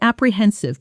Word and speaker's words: apprehensive: I felt apprehensive before the meeting because I didn't know how they'd react to the new numbers. Pronunciation: apprehensive. The stress is on the third syllable.